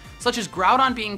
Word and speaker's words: Groudon: the most popular box art Legendary Pokémon are pronounced wrong such as Groudon being called groundon or Groudon and hoo being called ho ho